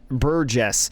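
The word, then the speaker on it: Burgess: one is going to find a Jesus bur Buress is how you pronounce that one going to put that in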